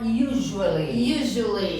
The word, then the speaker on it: usually: Ó, presta atenção no som do U. Então, a gente fala you. Igual você fala you. You. Usually.